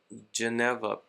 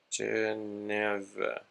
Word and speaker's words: Geneva: Yeah, we have these topics here, which is Washington Conference in 1921, Geneva Protocol 1924, Dawes Plan 1924, and Young Plan 1929.